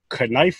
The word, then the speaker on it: knife: Got my knife with me. Yes, I said knife because it's spelled K-N-I-F-E. K is silent.